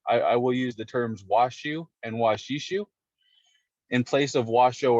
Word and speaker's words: Washoe: with the oe is almost supposed to be pronounced like the word shu so washu a lot closer to how we refer to